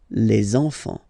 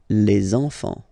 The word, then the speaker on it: les enfants: So you should make the little link. Les enfants. Les enfants.